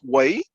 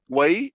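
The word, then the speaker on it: Wei: devoted to the kingdom of way way w-e-i there are 15 books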